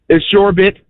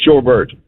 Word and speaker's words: sherbet: Dog, it's Shorbit, but I pronounce it Shorbert.